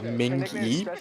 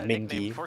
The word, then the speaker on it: Mingi: So it's pronounced Mingi, Mingi, but Okay. it's pretty much if you want to say Ming, like the Ming Dynasty with the E. It's a Mingi.